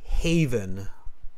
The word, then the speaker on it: haven: Just pronounce this word after me, haven.